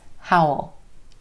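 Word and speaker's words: how'll: be well you be how will be comes howl howl just like a wolf howls at the moon Oh how'd she get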